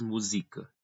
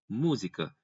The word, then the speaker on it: música: Ninguém diz música, nem música. Não, música. É na antepenúltima sílaba a tonicidade.